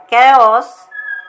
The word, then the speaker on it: chaos: machineries more you know CH also sounds like C can you name some words character chaos stomach Monarch well done the country has descended into economic chaos thanks for watching